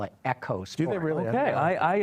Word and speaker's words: Eco: vehicle they call it echos do it really okay I actually was wrong in that okay because overseas people pronounce it echo not iko iko is a very American pronunciation so you watch Ford's